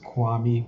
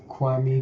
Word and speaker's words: Kwame: how are you doing everybody my name is kwame i also go by the name dark